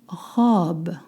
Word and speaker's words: robe: You don't pronounce robe, and robe in English is not une robe in French. Une robe, a dress. You want to pronounce like the verb, to rob.